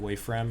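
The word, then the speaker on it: Woifrem: the one where from how do i spell that w-o-i-f-r-e-m that's it's it's uh it's like essentially like the world is is called wafram and you're in the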